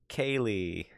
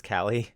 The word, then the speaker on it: Kelly: just came from retailer everyone said my name wrong like Kaylee oh so it's Kelly okay and I